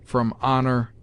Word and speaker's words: honour: Some late innovators have ejected the u, without considering that the last syllable gives the sound neither of or nor ur, but a sound between them, if not compounded of both.